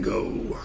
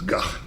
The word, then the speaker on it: Gogh: Vincent van Gogh. Strange because the actual pronunciation of his name is Gogh. But everybody calls him Go.